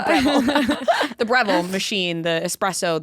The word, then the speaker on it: Breville: I don't know if I'm pronouncing it right. Breville. The Breville. No, it's Breville.